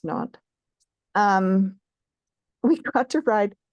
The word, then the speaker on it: Nantes: We it's in Nantes, France, Nantes, pronounced Nantes.